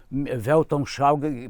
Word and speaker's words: Weltanschauung: na escola de música, Weltanschauung, pronunciado direito, quer dizer visão de mundo.